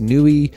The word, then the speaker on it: Niue: best of my ability I think it's pronounced Nui and I think its